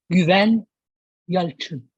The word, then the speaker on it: Güven Yalçın: Goal scorer, my dream, Güven Yalçın. Wow. I told you with the Turkish pronunciation, and I'm kind of provoking.